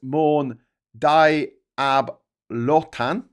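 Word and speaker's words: Morne Diablotins: Uh notable geographic sites include um the Mour Dio Boltons pronounced Mour Dab Lan.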